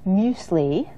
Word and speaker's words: muesli: to show you how to make a low-fat muesli, which might be new to some of you. Muesli. And it looks like mueslix, Now, right? I When you see it remembered that. written, but Yes. it's muesli.